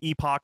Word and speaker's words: epoch: um youtube channel um is epoch philosophy not epic okay yeah either way either way works i think you can pronounce the word uh both ways um twitter instagram is